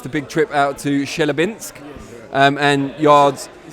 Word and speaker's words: Chelyabinsk: It's the first time I've seen you guys since the big trip out to Chelyabinsk, and Yarde's...